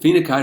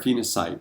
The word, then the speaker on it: phenacite: people say is it FINA kite or FINA sight I've looked it up it's pronounced and defined in dictionaries with the pronunciation going either way so take your pick